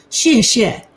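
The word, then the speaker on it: 谢谢: you one right now shisha is how you say thank you in mandarin it's not s-h-i-t it's s-h-e-a so she is yeah right i've learned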